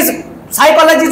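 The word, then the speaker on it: psychology: बया भाषा आहे साधी लिहिते एक वाचते एक लिखते सायकॉलॉजी वाचते सायकॉलॉजी साले अरे बरोबर आहे ना लिहितानी सायकॉलॉजी स्पेलिंग कशाच्या पासून आहे पी पासून अरे चोट मग सी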